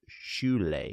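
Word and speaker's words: Šiauliai: north of a small industrial city and it's pronounced shoule doesn't look like that but I did the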